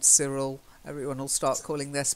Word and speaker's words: Cyril: name like Anthea but this one's Cyril Cyril see ya and Cyril is also it's not surreal it's Cyril and it's kind of